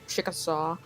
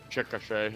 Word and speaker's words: Chickasha: There's some light, brighter color to the west of Chickasaw. I believe that's how you pronounce it. It's Chickasha, actually.